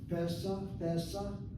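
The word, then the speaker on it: פסח: Pesach, Notice that sego underneath that pay, short vowel, open syllable, therefore is accented. Pesach, not Pesach, Pesach.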